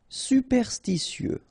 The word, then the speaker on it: superstitieux: Superstitieux. Okay, so final X not pronounced.